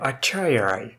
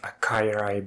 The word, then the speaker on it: achaierai: never actually used in DND or girls the acharya yes I looked up the pronunciation I used to pronounce it as a kairai before C is sentient goofy looking four-legged Birds